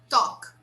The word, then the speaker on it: talk: this mistake a lot talk talk so this l here is silent because it comes before a consonant so we say talk